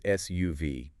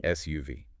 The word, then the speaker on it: SUV: In English, when we have an acronym like this, we almost always read it letter by letter. So it's SUV. 3 distinct syllables. Yes, UV. SUV.